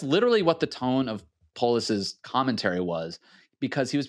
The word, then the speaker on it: Polis: state governor jared police is it police or police police i mispronounced that on good luck america sorry polis flax um connor cahill